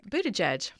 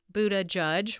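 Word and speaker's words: Buttigieg: mayor Pete bootie judge so there's two ways not that it matters anymore really but-- edge edge like the edge of a yep counter right or buddha judge which i think is the fun way to pronounce it that's the way Shasta does it Buddha judge well no matter what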